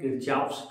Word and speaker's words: Kirchhoff: ठीक है, चलिए अब हम बात करते हैं क्या, किरचॉफ का नियम।